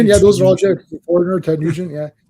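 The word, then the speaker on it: Ted Nugent: good Ted nent yeah you mean Tad nent if you watch that 70 show they went to Ted nent they're selling shirts and he and and Fez pronounced it wrong he called them Tad so the shirt says Tad Tad T what is this it's Ted n no you idiot it's Ted all right so here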